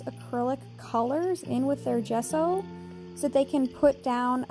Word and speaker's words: gesso: is curious about it gesso is spelled with a g but said with a j go figure this squash